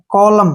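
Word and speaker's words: column: ले और फिर म कॉलम क्या पढ़ेंगे इसको कॉलम कॉलम कॉलमन नहीं पढ़ना है कॉलम कॉलम का मतलब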